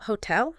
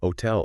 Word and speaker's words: hotel: trip up English speakers H is silent plain and simple so hotel hotel orora now yes super